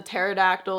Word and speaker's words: pterodactyl: Again, once you can own what has happened in this case, that the pterodactyl is extinct and that the P is silent, then you start to remove this avoidance that you had with this loss.